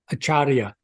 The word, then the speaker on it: Acharya: first name is last name is achara acharia okay Dr achara all right so there's my